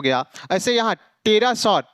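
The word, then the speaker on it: pterosaur: हो गया ऐसे यहां टेरा सर टेरा सर की स्पेलिंग क्या होगा पी टी आर ओ एस ओ यू आर इसमें क्या पी साइलेंट हो गया तो यदि एनएसटी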